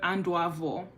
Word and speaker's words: Adanuvor: Instead, they use the word Anduavor, which is spelled Adanuvor.